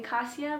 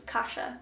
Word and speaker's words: Kasia: other girl's name wrong i was saying kasia but it's kasha i'm gonna look back